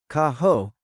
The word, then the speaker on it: caro: Kaho and caro with the soft R.